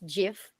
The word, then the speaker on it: GIF: Um so nowadays you can add some v video visuals utilizing infographics gif which you pronounce it that's gif but the meaning is graphics interchange format.